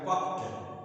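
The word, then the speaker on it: puffed: पफ मतलब अगर इसका पफ का होता है पफ इसको पढ़ेंगे पफ पी U double F ई जी इसको पफ नहीं पढ़ेंगे ये इसका उच्चारण हो जाएगा पफ्ट पफ्ट ट ट उच्चारण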